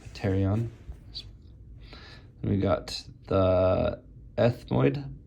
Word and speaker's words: pterion: Pronounced pterion.